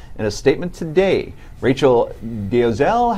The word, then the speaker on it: Dolezal: In a statement today, Rachel Dolezal, how do we pronounce it officially? Dolezal.